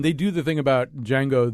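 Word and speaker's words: Django: do the thing about Jango the D is silent I thought oh I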